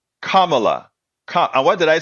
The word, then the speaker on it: Kamala: of them betterto to say her name correctly make believe it has a o like Kama Kamala and what did I